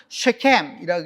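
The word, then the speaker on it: שכם: 이름과 이치를 한번 보면, 이 세겜이라고 하는 말은 우리말로는 세겜이고요, 여러분. 원래 히브리 원어로는 뭐냐면 쉐켐이라고 읽어야 되는 거죠.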